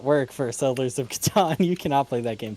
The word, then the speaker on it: Catan: i played was uh settlers of caton um which as some people would call it catan if you want to pronounce it correct in fact one could almost say most people would call it that but as americans it is our obligation and solemn duty to mispronounce things that sound vaguely foreign to us yep so uh soldiers